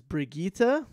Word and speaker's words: Brigitte: Moira, and now I guess the proper pronunciation is Brigitte. Brigitte.